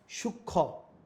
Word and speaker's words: সূক্ষ্ম: যেমন সূক্ষ্ম অনুচ্চারিত থাকে, সে মফলা কি বলছে?